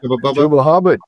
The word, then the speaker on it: Chuba Hubbard: And the other guy, Chuba, how do you pronounce Chuba Hubbard? Yeah, Chuba Hubbard.